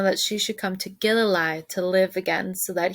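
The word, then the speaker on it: Gilleleje: Gililei. Gililei. Okay, we got it. Okay. Told Mama that she should come to Gililei to live again so that he wouldn't have to do all the chores by himself.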